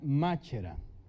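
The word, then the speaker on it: μάχαιρα: más era se escribe marcha eran pero se pronuncia machera y significa espada esta es la palabra común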